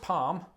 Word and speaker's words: palm: Palm. I pronounce Palm. it palm. And I say palm as well. Same. Palm. So you don't pronounce the L.